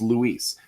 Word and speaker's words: Luis: Just the first name alone, it's Luis. Yeah. That does not look like Louis. That does not look like Lois or anything, right?